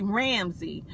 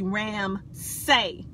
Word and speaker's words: Ramsay: A lot of people say Ramsey, but my name is really Ramsay. Like you say something, S-A-Y, that's the proper pronunciation and the proper spelling for my name.